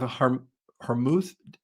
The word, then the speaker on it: Hormuz: And then they went into the Strait of Hormuz. Do I say that right? Please tell me if I'm saying that wrong. You said it right. Straight to Okay. Hormuz.